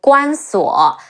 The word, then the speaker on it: Guan Suo: Bao Sanniang, she's a possibly fictional character who married to Guan Suo. Ge Wu An Guan Si Wu O Suo Guan Suo, a possibly fictitious son of Guan Yu.